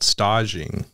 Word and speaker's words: stage: in The Culinary world it's called stock sing um so it's it's spelled like a stage but staging and so